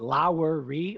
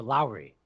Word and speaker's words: Lowery: Is our last name 3 syllables or 2 syllables? Is it Lowery or Lowry? Interesting. Lowry. It's 2 syllables, dang it.